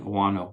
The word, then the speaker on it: Ouano: Dean Owano, that's spelled DeanOuano, Dean Owano.